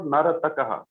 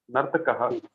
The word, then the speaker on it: Nartakaha: Okay, it is Naratakaha. It is not Naratakaha. It is Nartakaha. Half ra is also there. So how to pronounce half ra? Nartakaha, Nartakau, Nartakaha. Okay. The a should be distinct.